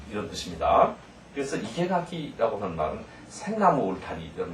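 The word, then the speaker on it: 生垣: 그래서 이케가키라고 하는 말은 생나무 울타리 이런 말이고요.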